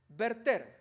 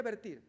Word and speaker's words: verter: invertir revertir convertir pero el verbo original es verter sería vertir eh pero la pronunciación correcta es verter bueno notemos ahí entonces